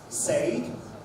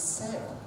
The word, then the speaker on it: said: The letters A-I-D can be pronounced as laid, laid an egg, paid, paid money, said, no, it's said. Said rhymes with E-A-D, bread.